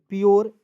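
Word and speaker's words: pure: यू आर ई देखिए यू आर ई का उच्चारण हो जाएगा योर के रूप में प्योर एस यू आर ई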